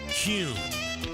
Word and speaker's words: Kuhn: And now, I'm going to share the absolute right way to pronounce Kuhn flowers. It's Kuhn.